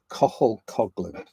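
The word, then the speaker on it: Cathal Coughlan: I mean, if you can look up an artist, look up this this artist, Cohul Cogland. It's spelled weird and pronounced differently.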